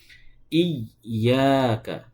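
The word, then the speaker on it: إِيَّاكَ: Nah, yang betul ditahan dulu. Ada penahanan dulu sedikit. Seakan-akan kita sedang membaca huruf yang sukunnya dulu. Ya, sukunnya dulu. Iya. Baru membaca ya yang berharakatnya. Jadi yang betul pengucapannya harus ditahan terlebih dahulu atau ditekan terlebih dahulu baru kemudian dilepaskan.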